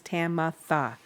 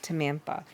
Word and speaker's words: Tamitha: I'm like, there's no N in it. There's Tamantha. That my name is Tamitha, not Tamantha.